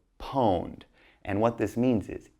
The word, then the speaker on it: pwned: It's pronounced pwned, okay? They don't type the O, but they say pwned.